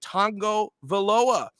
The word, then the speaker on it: Tagovailoa: an i have seen videos of tua himself pronouncing his name to show people how it's done it's tango veloa the person who wrote the letter is dead